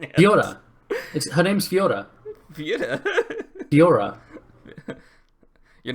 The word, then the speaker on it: Fiora: become this big team fight menace that we know he can be, so that the Fiora doesn't really matter until the late game.